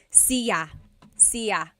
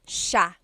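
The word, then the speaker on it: siya: It looks like it should be pronounced sa cia but it's actually pronounced sha sha. So the s i y it's a sha sound.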